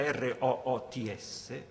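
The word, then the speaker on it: routes: dire radici, roots, scritta R-O-O-T-S, da mettere accanto alla parola strade o rotte, che si dice nello stesso modo roots, ma si scrive R-O-U-T-E-S.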